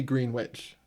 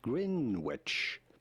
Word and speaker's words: Greenwich: It may look like it should be pronounced Greenwich, but it's not at all how it is to be said.